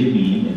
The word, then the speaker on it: meme: il termine di meme, che in inglese è meme, dice appunto giustamente it should pronounce to rhyme with cream, perché in inglese non si sa mai come si pronuncia, quindi ha messo le mani avanti, cioè come cream, ma io userò il termine meme.